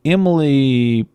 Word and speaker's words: Emil: And this individual, Emily Protaslinsk, that's not how you pronounce her name. Emily. Actually, it's Emil. I'm sorry. E-M-I-L. Boy, I really butchered that.